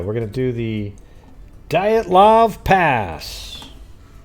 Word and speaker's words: Dyatlov: We're going to do the Dyatlov Pass. How do you say it though? I mean, I've heard people say it like Dyatlov or something, right? I do need some rest. Dyatlov. Okay, so I'm saying it right.